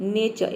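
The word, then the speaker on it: nature: रंग हो जाता है तो आपको क्या करना है आर को साइलेंट रखना है आर को प्रोनाउंस ही नहीं करना है या फिर प्रोनाउंस करना भी है तो नौ के बराबर बिल्कुल हल्का प्रोनाउंस करना है देखिए यहां पे एन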